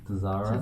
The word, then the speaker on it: Tzara: TZ, yeah, the T. Yeah. Silent. T is silent. Yeah. Because I remember when I first started, it was like Tzara.